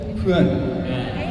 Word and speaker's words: เพื่อน: อีก ครั้ง ก่อน สำหรับ คำ ว่า เพื่อน ใน ภาษา ไทย ให้ ออก เสียง ว่า เพื่อ เพื่อน เพื่อ หา โอเค คน